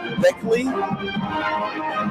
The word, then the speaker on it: Beckley: be very happy and the correct pronunciation of that punter's name or keeper's name is beckley that you'll have that